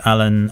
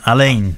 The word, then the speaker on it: Alain: is greatest i don't know if i'm pronouncing it right french photography a friend of yours so i first discovered alan alain sorry alain i first discovered his work years